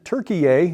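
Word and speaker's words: Türkiye: uh over the weekend turkey a the correct pronunciation now according to the Turks said Saturday it's recalling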